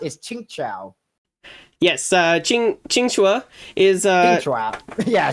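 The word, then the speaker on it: Qingque: time I said this, I referred to as Q Kui, but then you corrected me that her real name pronounced is Ching Chao.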